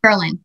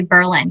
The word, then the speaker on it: Berlin: not berlin germany and when you say berlin you have to stay really quick berlin you can't say berlin because then you can